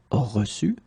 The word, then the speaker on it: reçu: So one more time, this CD here is quite important, so reçu.